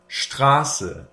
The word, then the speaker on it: Straße: If they stand at the beginning of a syllable, the S is pronounced like a sh. So it is st and sp. For example, Straße, Sport.